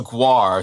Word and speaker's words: Guo: Her name is Fiona Guar, spelled Guo, but it's pronounced Guar, apparently, like the band.